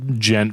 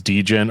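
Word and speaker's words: djent: like me and Joe had this like gent versus degent argument for the longest time, and I'm like, I'm like, stop calling it degent.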